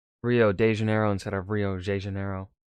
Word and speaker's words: Rio de Janeiro: from the old capital, Rio de Janeiro. That's right, it's pronounced Rio de Janeiro, not Rio de Janeiro. Get it right, we're not in Mexico. This is Portuguese, not Spanish.